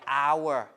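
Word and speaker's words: hour: Words like our, H-O-U-R, H is not pronounced like that, right?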